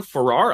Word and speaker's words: Farrar: I have Farrar. I'm going to pronounce that wrong.